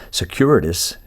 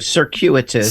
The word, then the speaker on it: circuitous: way it's very secured it's Securities I'm saying it wrong but you know what I'm saying no you said a circuitous circuitous yeah and it's cute it